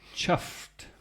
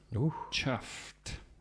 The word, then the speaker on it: chuffed: trouble I've got one chuffed chuffed spelled c h u f e d although pronounced with a t on the end anyway it means pleased